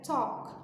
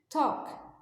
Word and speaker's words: talk: Talk é um som de um O seco e aberto, assim como no walk.